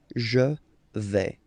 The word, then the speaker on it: je vais: Okay, first person here, je vais. Remember, final S not pronounced.